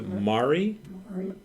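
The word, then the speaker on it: Maury: the walk and how do you say m-a-u-r-y so Mari Mari is not the only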